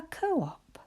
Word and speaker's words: co-op: And we have it written here, the name of the shop, but it's like writing 2 syllables. Co-op.